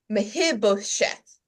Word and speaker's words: Mephibosheth: I don't know if you all struggled to pronounce this name. I had to go slowly. It is Mephibosheth.